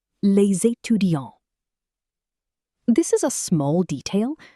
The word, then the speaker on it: les étudiants: Les étudiants, pronounced les étudiants.